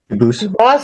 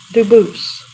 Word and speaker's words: Dubus: They do pronounce it dubis, but you said you pronounce it dubus as the original dubus as the original French. Yep. Very well, Duboose.